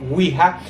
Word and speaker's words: Ouija: Lo cierto es que wiha es nada más una palabra derivada de dos palabras Wi que en francés significa si y Ja Que se pronuncia Ya que en alemán quiere decir también Sí o sea el juego